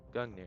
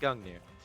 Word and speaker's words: Gungnir: Okay, now let's grab this Gungnir. Yeah, that's how you say it. Gungnir.